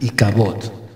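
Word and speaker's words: אִי־כָבוֹד: Y hay estas pérdidas, de tal forma que se cierra este capítulo con una expresión que en hebreo se pronuncia Ikabod, que significa traspasada es la gloria o sin gloria.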